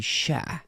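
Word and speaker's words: chère: grandmother used to call me Sha Sha she was Cajun and that's s that's c h e re e which is the word for friend and baby bab and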